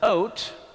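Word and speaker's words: אות: for days and years the Hebrew word for signs here is oat um it's the ALF the UD or the Olf bav and the Tav is how it's spelled it's oat and you know what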